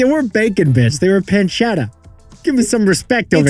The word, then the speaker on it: pancetta: bacon bits they were pancetta give me some respect over it's pronounced Pan shadow Jack we had Adam